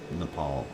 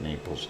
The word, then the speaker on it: Nepal: Napal Napal NE Nepal Nepal there I said it right not Naples Nepal uh 3.8 it's